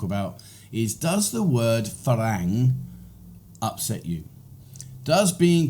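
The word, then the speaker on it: ฝรั่ง: but the word is farang and it's actually an ah farang but because tires have a difficulty pronouncing the r they change it to an l so you'll hear the word falang but either way farang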